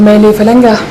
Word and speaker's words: Maëlle Falanga: Vous devez être Maëlle Falanga, c'est ça? Vous êtes la première blanche, je voulais dire la première européenne à prononcer correctement mon nom.